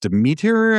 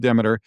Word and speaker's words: Demeter: So, Demeter, I've also heard that pronounced Demeter, we're going to go with Demeter, is the goddess of grain and seasons and harvest.